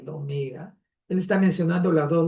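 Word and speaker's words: ωμέγα: Para los griegos es la omega, que suena como una O alargada, o algo así, ¿no?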